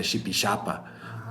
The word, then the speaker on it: Jipijapa: se escribe con x sabemos que la pronunciación original era shipi shapa porque en esa época español Todavía tenía el sonido sha como tenemos en inglés y en quichua pero hoy en día no tanto en español entonces y consta shipi